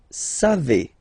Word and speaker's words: savez: Then vous savez, classic ending for vous, EZ, but then phonetically it's et, vous savez, savez.